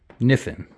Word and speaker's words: Kniffen: kenesis x his name his legal name is jordan spelled like the river niffen spelled like k n-i-f-f-e-n look him up it's